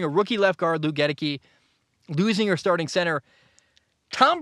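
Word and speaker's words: Goedeke: They've got a rookie left guard, Luke, I always get this, Gedeke. Luke Gedeke. It's spelled Godeke.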